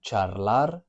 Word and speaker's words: charlar: The combination of CH in Spanish is very similar to CH in English. It makes that ch sound. For example, in the word charlar, to chat, charlar, it's very similar to chat, chat, charlar. That ch sound, very similar.